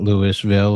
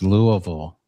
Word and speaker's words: Louisville: Uh it's apparently it's not Lewisville or Louisville. It's Louisville.